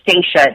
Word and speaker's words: Stacia: It's actually Stacia with an A, so it's kind of weird. People mess up my name all the time, but it's Stacia. It's spelled Stacia, but kind of short like Anastasia.